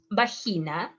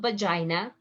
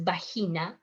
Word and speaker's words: vagina: biliary is the gallbladder bahina is not vagina is bahina berlugas berrugas is a